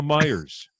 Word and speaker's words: Meijer: myers but you're right so that's how you pronounce the meijer do you know where he got the money